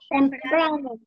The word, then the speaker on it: temprano: Temprano. Temprano. Fíjense la palabra. Temprano. Está en la penúltima sílaba. La sílaba tónica es la penúltima.